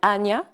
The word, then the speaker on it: Anja: Et Anja, en fait, c'est qu'on prononce, ses amis souvent l'appellent Anya, Anya, oui. puisque c'est un prénom d'origine suédoise.